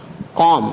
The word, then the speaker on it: comb: خاموش یعنی سائلنٹ رہتا ہے۔ جیسے اگزامپل ہے کام، COMB کام، اس کو پڑھیں گے کام، بی